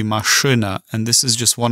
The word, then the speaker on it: машина: So you would never pronounce it машина. It's still going to be машина.